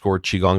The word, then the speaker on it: qigong: you go to Tik Tok it's Chris Shelton chigong that's Tik Tok and then the the other social media handles for example like YouTube and Instagram and Facebook is Chris Shelton chiong and chiong once again is spelled Qi g n g